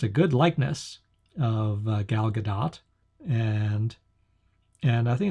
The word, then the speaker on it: Gal Gadot: So in this movie, Wonder Woman is played by Gal Gadot, and I looked up, I'm told that's how it's pronounced, Gal Gadot.